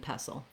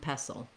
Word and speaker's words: pestle: mortar and mortar and pestle and pestle then you've probably been hearing by now when i'm saying pestle i'm not saying this t sound the t is silent uh the vowel is